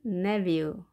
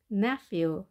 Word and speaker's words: nephew: 남자 조카는 nephew, nephew 또는 nephew 이렇게 발음을 합니다. ph 발음은 f였던 거 우리 기억하십니까? 발음교 f 보이겠죠? 그리고 때로는 v로도 발음합니다. 자, f보다 더 약하게 v로 바뀌는 거죠. nephew 또는 nephew 하시면 되겠습니다.